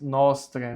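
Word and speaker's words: nostrae: Salutis nostre. Mais uma vez o A próximo da letra E, ele fica mudo, então é nostre.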